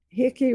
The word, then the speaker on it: Hickey: Hickey rhymes with sticky.